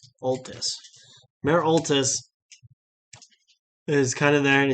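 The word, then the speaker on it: Oltus: uh the court the courtyard and mayor uh otiles is actually I'm saying it wrong I'm reading it wrong o-l-t-u-s all this mayor Altis is kind of there and it says you've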